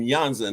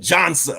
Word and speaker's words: Jansa: is that you're yanza not Jona the bio makes me look real good so I'm very happy about that now the reason I pronounce it yanza because it's actually uh Czech uh I was born